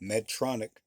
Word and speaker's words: Medtronic: One word, I just pronounced it like it was two, but Medtronic to integrate its thin